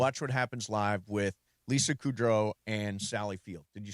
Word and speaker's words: Kudrow: So Lisa Kudrow, I think that's the way you're supposed to pronounce it. Kudrow? Lisa Kudrow. Yeah. Well, you're putting the emphasis on Kudrow.